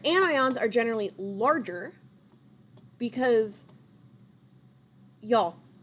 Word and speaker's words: anion: becomes overall negative and now it is an anion so an ion that's how you pronounce it this is overall negatively charged notice